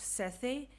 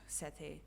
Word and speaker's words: Sethe: i think it's pronounced sethe but can i just call her set it's just so much easier to roll off the tongue but i think it's pronounced sete i think so anyway